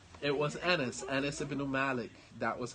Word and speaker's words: Anas: Just say, was it Anis or Anas? There you go. See? Allahu Akbar. It was Anas. It was Anas.